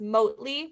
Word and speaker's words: Mote: It's, I think it's pronounced Motely, but I'm not for sure.